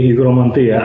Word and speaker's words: Hygromanteia: So you say Hygromanteia, I will say Hygromanteia. I'm not trying to correct you or anyone. I'm just more accustomed to the modern Greek pronunciation.